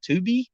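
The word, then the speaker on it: Tubi: good horror movies on 2b i believe it's how you pronounce it t-u-b-i so y'all need to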